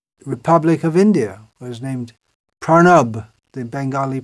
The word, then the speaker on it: Pranab: president of the Republic of India was named pranab the Bengali pronunciation pranab mukarji so it's well known as a name